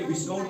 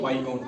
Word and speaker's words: viscount: उसके बाद VISCOUNT, यहाँ एस जो है ये साइलेंट रहता है, इसको पढ़ा लिखा जाता है लेकिन पढ़ा नहीं जाता है। इसको यहाँ पढ़ेंगे विस्काउंट नहीं पढ़ेंगे, बल्कि वाई काउंट पढ़ेंगे।